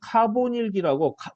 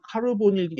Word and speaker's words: 카보닐기: 그 다음에 카보닐기라고 발음은 카르보닐기 여기 이렇게 적었는데 영어로는 자동차 그 다음에 보닐 영어 발음으로 카르보닐 이렇게 발음하지 않고 카보닐기 이렇게 발음을 해요.